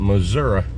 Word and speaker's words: Missouri: I pronounce it Missouri. But how do they say it in Ohio?